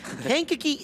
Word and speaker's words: Kankakee: Wow, I mispronounced that, misread it at the same time. Kankakee, Illinois is where Osterhoff is from.